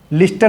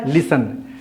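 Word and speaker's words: listen: लि के क्या बताना एल आई एस टी ई एन क्या पढ़ते हैं लिस्टन लिखते हैं लिस्टन पढ़ते क्या लिसन ये टी हो गया सलेट टी क्या है साइलेंट लिखते हैं पढ़ते नहीं तो लिस्टन नहीं पढ़ना है लिसन हो गया फर्स्ट फॉर्म क्या आईजी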